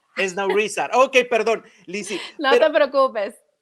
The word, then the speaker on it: Esnaurrízar: Y casi lo pronuncias bien. Se dice Esnaurrizar. Esnaurrizar.